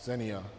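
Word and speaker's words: Xenia: So Senia, so my partner came up with it, and it's usually spelled with an X, Senia, and it's Greek for hospitality.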